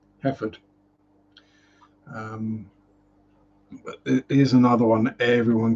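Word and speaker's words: Hereford: wrong every time uh Herford is a word that's pronounced very different pronounce it you usway heord I think I mean heord would probably be how a local I hate farmer isn't it a local rustic rural type would say it heord um is's another one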